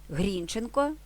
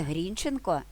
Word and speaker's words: Грінченко: Грінченка тобто Дмитра Гринченка існувала сімейна легенда що їхнє прізвище не Грінченко як наголошував народ такі прізвища а Грінченко в основі цієї легенди лежало бажання бодай таким Робом відрізнятися від мужиків і на ті часи нікому не спадала на думку перечити панським забаганкам Тим паче що прізвище з таким наголосом українці вживали Шевченко Козаченко Чумаченко це все спричинилося до